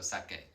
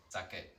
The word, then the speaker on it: saque: Just looks a little bit weird, but remember the QU also gives us that hard C sound. Think of the word que. It's almost like a K sound, yeah? Kicking K, as they say in a lot of primary schools, or at least used to. So sake, QU. This is another common mistake that people try and pronounce the QU like queen in English. It doesn't make a qu sound, it's just like the letter K, sake.